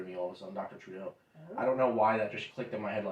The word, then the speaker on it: Trudeau: should have figured out how to pronounce this uh throw to row i don't know where you're at it's uh t-r-u-d-e-a-u oh it's trudeau trudeau dr trudeau there we go that